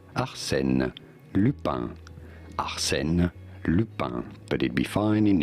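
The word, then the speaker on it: Arsène: pronouncing this in French in France we say it as Arsen but it'd be fine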